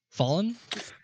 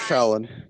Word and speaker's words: Fallon: Fallen? We have Fallon. That's Fallon. Fallon. It's It's Fallon. Fallon. We Pronounce have it right.